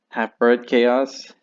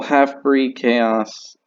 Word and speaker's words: Half-Breed Chaos: love and support to Half-Bred Chaos. I think it's Breed, now that I think about it. Oh my gosh, I said the name wrong. I am so sorry. Well, Half-Breed Chaos.